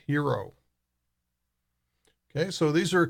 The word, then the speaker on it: HXRO: coin flex and H X ro which is pronounced hero okay so these are a couple of new